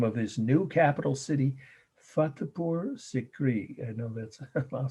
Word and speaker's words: Fatehpur Sikri: here's the name of his new capital city, Fatehpur Sikri. I know that's, I'll say it slowly and spell it twice. Fatehpur, Fatehpur, Fatehpur Sikri, Sikri.